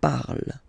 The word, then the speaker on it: parle: ending e, and then the way to pronounce it is je parle, parle. So remember, we put it, okay, but then we don't really pronounce it.